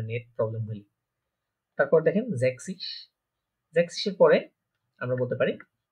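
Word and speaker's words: sechzig: যখন একটা এস দিব, খেয়াল করবেন এই যে আমরা যে জেড বলে থাকি, জার্মান এটাকে বলে সেট, এই সেটটা অনেকটা এস এর মতো উচ্চারণ হয়, তো দুইটা এস একসাথে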